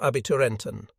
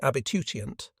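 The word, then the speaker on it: Abiturient: Then, appearing to draw himself up even straighter, he asked, "How many of you are Abbyenton?" mispronouncing abbitutient, the German word for gymnasium graduate.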